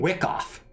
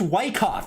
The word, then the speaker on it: Wyckoff: foreign he keeps saying Wick off this is freaking ridiculous I'm trying to enjoy Jordan's stream and he keeps saying a name wrong he keeps saying Wick off it's Wyckoff Jordan Jordan it's Wyckoff I can't even watch